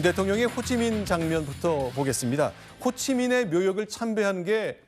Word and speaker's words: 호찌민: 어제 모습이죠 네 그렇습니다이 호치민 묘가 있는 곳을 윤석열 대통령 부부가 가서 참배를 하는 모습입니다 네 자 호치민 우리 예전에는 호지명이란 한자 이름을 사용해서 그렇게 발음하곤 했습니다만 현지 발음 호치민으로 했는데 자 우리하고는 베트남 전쟁